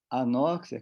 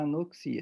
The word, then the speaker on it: anoxia: Então, por isso que eu faço essa brincadeira aqui, que morrer de anóxia é uma questão de prosódia, ou seja, é uma pronúncia errada, né? Porque o que mata mesmo é a anoxia.